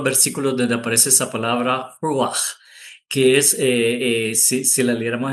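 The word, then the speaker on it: רוּחַ: pronunciación en hebreo es ruach, y es una R casi como la R francesa, que es un poco enroscada, pero si le escribimos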